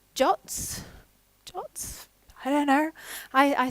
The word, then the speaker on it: JWT: Most programming language libraries will have some kind of JWT, or I hear they're supposed to be pronounced as JOTs.